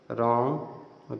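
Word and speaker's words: wrong: यदि आर के पहले डब्लू आता है वहां डब्लू साइलेंट होता हैसे रैक रेंच यह हो गया रीत रेसल रिस्ट रंग रिंग रट राइट रीट रेथ रप रथ रक रीत रपर सब में डब्लू साइलेंट है क्योंकि उसके बाद आर आ रहा है कुछ अन्य वर्ड्स भी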